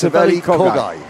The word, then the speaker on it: Saveli Kogai: We've been saying his name wrong all this time. And we both have been saying his name wrong, yes. But Saveli only thinks that you've been saying his name wrong. That's right, we've both been saying it wrong. It's Saveli Kogai.